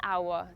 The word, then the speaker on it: hour: It takes at least AN hour to drive to the airport. Remember with words like ‘hour’ where we don’t pronounce the letter /h/, use AN.